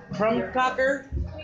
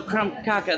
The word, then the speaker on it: Krumkaker: picture this is a from Cocker is that right from kaka kaka so crumb caca the R is silent from caca you just